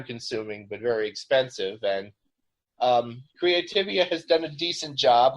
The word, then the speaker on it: Creativia: society uh now you use a a publisher creativia is that how you pronounce it yes how do you uh like